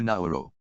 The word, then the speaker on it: Nauru: Nauru, the world's 3rd smallest country, has updated its official name spelling and pronunciation to Nauru.